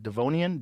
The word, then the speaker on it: Devonian: until the devote how do you say that devonian devonian period some 360 million years ago you